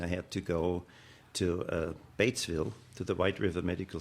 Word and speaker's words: Batesville: Let me help you with your pronunciation. Batesville. Batesville. Batesville.